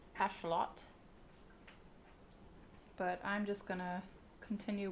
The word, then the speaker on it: axolotl: So the axolotl apparently is pronounced more like ashlot, but I'm just gonna continue with the colloquial use of it, since most people pronounce it axolotl.